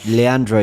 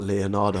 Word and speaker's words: Leandro: Oh, names you butchered. Yeah, Leandro. You said two different things in one. I had to just do What did you say? I called him like Leonardo.